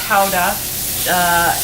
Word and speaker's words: Gouda: The other Beemster cheese we have here in the store, which is also a Gouda, as Graskaas is, and pronounced Houda in Holland, is our Beemster XO, which is a 2-year aged Gouda.